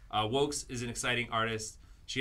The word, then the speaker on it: vōx: Because we have an extremely exciting guest whose name is pronounced Wokes. Wokes. It may look another way to you, but that is pronounced Wokes. Wokes is an exciting artist.